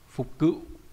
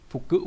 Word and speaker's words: phục cựu: nghĩa là khứ hồi, fukyu là phục cựu, phục cựu nhé không phải phục cự, nghĩa là được phục hồi đúng nhỉ.